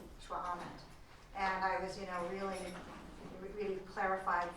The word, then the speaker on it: šxʷʔam̓ət: Can't pronounce the word, but anybody be able to pronounce it? Shwa'amet. Shwa'amet.